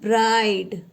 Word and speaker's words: bride: जैसे BRIDE, इसे हम कैसे पढ़ेंगे? ब्रिड नहीं पढ़ेंगे हम, इसे पढ़ेंगे हम ब्राइड. क्या पढ़ेंगे?